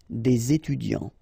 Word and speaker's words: des étudiants: So it starts with a vowel, so you should make the connection, the liaison between the two, des étudiants.